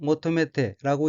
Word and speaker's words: 求めて: 될 화, 구할 구자로 되어 있고 일본어로는 henka와 motomete라고 읽으며 henka는 변화라는 뜻이고 motomete는 구하다, 바라다, 요구하다는 뜻의 타동사 motomeru의 태형으로 henka와 motomete는 변화를 바라고 라는 의미입니다.